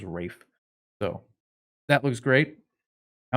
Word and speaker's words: Ralph: he likes to pronounce it's spelled ralph but everyone says rafe so that looks great